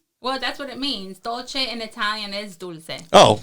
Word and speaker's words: Dolce: Yeah, I called it dulce. Well, that's what it means. Dolce in Italian is dulce.